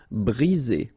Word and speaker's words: briser: 1 vowel, 2 vowels, and only 1 S between the 2, so you get the sound Z. Briser.